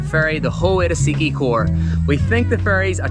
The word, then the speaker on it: Siquijor: destination which is the island of sikicor we think that's how it's pronounced in order to get